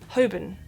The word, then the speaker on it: Holborn: now and I know it looks like it should just be pronounced Holborn but it's not obviously that' be too easy this is actually pronounced hobin just hoben and it's